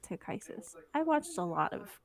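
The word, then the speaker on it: Takhisis: things I don't know some people pronounce tikisis or tick Isis I say to kisses I don't know accuses kisses but I have heard people like on YouTube pronounce it to crisis I watched a lot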